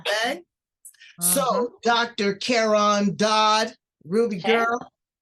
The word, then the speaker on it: Dodd: I have to say it correctly, Dodd.